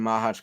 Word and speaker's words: Machac: To be honest, I think you are saying Machac correct.